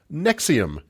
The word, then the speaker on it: NXIVM: to talk about today nexium what was that cult of finding heartburn yes exactly not to be confused with the proton pump inhibitor used to treat heartburn nexium that spelled capital n